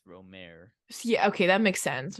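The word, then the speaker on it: Rohmer: and it is Eric romer's tales of the Four Seasons box set so it is all four ask your French relatives how to pronounce his name but I'm pretty sure it's ROM yeah okay that makes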